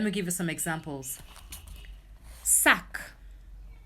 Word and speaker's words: sac: Sac. You see I pronounce the C at the end?